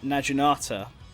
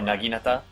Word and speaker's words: naginata: So for example, Niburu, a lot of people thought she'd use the uh Najinata. Am I pronouncing that? Oh, Naginata.